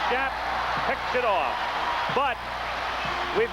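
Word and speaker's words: Shoup: Brad Schapp, number 40, is called his name S-H-O-U-P and pronounces it Schapp, picks it off.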